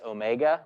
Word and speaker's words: omega: And analogously to velocity, angular velocity, which is this, you know, lowercase omega, looks like a curly W, but we pronounce it omega, tells us how fast the object is spinning.